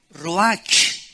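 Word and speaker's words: רוח: entonces la palabra hebrea roja que se pronuncia rojas la ch en el hebreo se pronuncia como jota y que es la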